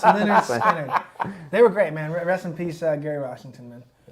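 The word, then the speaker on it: Lynyrd Skynyrd: Leonard, pronounced Leonard Skinner.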